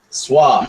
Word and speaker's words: SWA: Swa. SWA. 3 letters. 1 syllable.